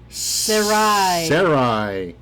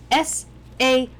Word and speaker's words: Sarai: who is and today we're going to do sarai so sarai s-a-r-a-i i do believe that that's how it's spelled sarai yes so sarai was later named